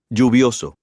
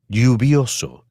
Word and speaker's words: lluvioso: You may hear it pronounced as J, for example, Lluvioso. or as Y, for example. Lluvioso. In Argentina and Uruguay, you may hear it pronounced as SH, for example. Lluvioso.